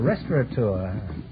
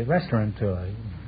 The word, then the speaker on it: restaurateur: owner of a restaurant oh well a restaurateur many people mispronounce it and say restaurant tour you have a restaurant